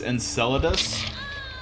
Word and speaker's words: Enceladus: been visited by aliens probably not it's pronounced Enceladus yes moon of Saturn okay I think there